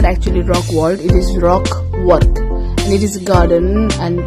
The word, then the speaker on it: Rockwork: Okay, some people misspelled it mispronounce it by saying Rock World. It is not actually Rock World, it is Rockwork, and it is a garden, or more often